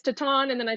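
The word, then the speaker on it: Titane: teton or titanic yeah titan yeah i always say i don't know yeah i say titan and everyone's like it's tatan and then i say tatan and there's titan i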